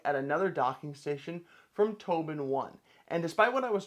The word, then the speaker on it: TobenOne: taking a look at another Docking Station from Tobin one and despite what I was told the last